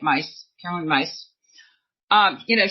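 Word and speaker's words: Caroline Myss: um Caroline mice who I never say her name right right my y SS but I think you say it mice Caroline mice um you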